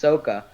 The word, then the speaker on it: Sokka: in the indian culture sako would actually be pronounced soca but if that's the